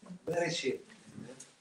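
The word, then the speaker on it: בראשית: Bereshit. Say be of be as in beta or bet.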